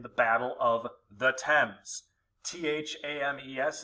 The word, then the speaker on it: Thames: battle of the thames t-h-a-m-e-s is pronounced thames tecumseh is among the